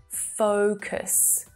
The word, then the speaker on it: focus: There's movement in my mouth as I'm making that one sound. Focus, focus.